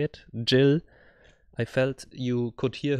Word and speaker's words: Jill: violinist violinist so that's how you say it Jill I felt you could hear her a lot